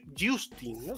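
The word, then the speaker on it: Jousting: lo conocéis genital y justa como de lucha Justin sería la pronunciación Justin Bueno este juego dejadme que os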